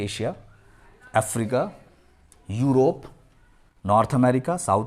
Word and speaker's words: Asia: एशिया नहीं बोलेंगे, वो लोग एशिया बोलते हैं, शीन निकालेंगे, एशिया।